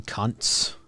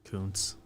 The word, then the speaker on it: Kuntz: I mean, there's the funny ones, Rusty Cunts. Yeah. It's actually not pronounced like that. Kuntz.